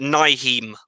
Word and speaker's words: Nyheim: I can't pronounce his first name. Is it Nyheim Hines? Yeah. Nyheim Hines, 44 yards.